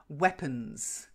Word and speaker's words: weapons: then daggers its leaders weapons weapons weapons weapons weapons you get their per not bur per wet weapons in p.m.